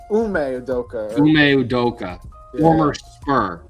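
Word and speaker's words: Ime Udoka: How do you pronounce his Udoka. name? Ume Udoka.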